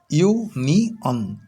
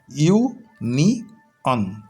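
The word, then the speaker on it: union: এন আই ও এন ইউ নি ইউ নি অন ইউ নি অন তাহলে উচ্চারণটা হলো ইউ নি অন কি জানলাম এতক্ষণ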